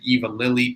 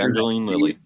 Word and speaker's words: Evangeline Lilly: I'm just going to say Eva Lilly, tweeted and tagged the actor. Evangeline Lilly.